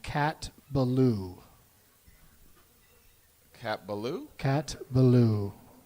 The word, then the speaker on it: Ballou: Cat Ballou Cat Ballou Cat Ballou not just adding a syllable to the word blue-blue both you're going both